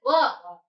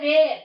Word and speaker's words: were: Is pronounced it as were. Don't say where.